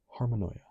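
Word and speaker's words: harmonoia: From harmony plus paranoia pronounced harmonia.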